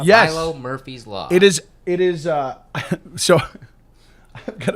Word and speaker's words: Milo Murphy's Law: I always say the name wrong because I'm like, yeah, Milo's. Yeah, I do. Yeah, it's right. A tick, right? So if it's Milo's, then it would be Milo's Murphy's Law. But it's Milo Murphy's Law.